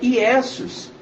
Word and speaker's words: Iesus: No latim a pronúncia é Iesus, que no significado significa isto é um porco, que era o sacrifício feito para Zeus.